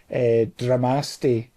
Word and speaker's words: Dramaste: I'm thinking Namaste, right? Namaste. Dramaste. Dramaste.